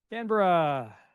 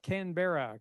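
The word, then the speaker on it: Canberra: It's pronounced Melbourne, Kra, Brisbane. And the answer is Kra, not Kenber.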